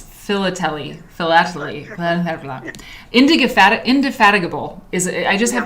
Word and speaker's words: philately: How do you pronounce philately? Philately.